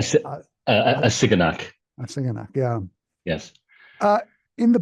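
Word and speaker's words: Assiginaak: with Ravel, and help me out with the pronunciation of the name, Barbara Uh, Hassan. a, si- Uh, a Siganak. Asingana, yeah.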